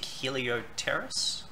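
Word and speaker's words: Heliopterus: We have a Majestic Helioteris. Well done. I'm pretty sure the P is silent.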